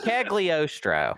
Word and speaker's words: Cagliostro: It's Cagliostro.